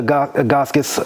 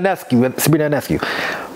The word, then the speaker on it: Ionescu: Look at Sabrina Agaskis. I think I pronounced her last name wrong. I'm sorry. Sabrina Ionescu.